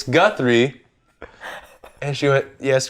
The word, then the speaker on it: Guthrie: I had a teacher in high school who, the first day of school, she's like, Guthrie? And I went, it's Guthrie.